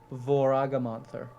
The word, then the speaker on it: Voragamonther: Voragamonther. it's like a Volkswagen with a monster at the end.